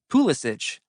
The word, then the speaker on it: Pulisic: In Germany, everyone pronounces Pissic's last name, Pulisich, the way it would be in Croatia, the birthplace of his grandfather, Mate.